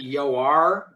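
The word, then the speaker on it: Joar: he mistakes Ted for I'm gonna say Jore because otherwise I'm going to say it wrong the whole time. It's apparently Yoir.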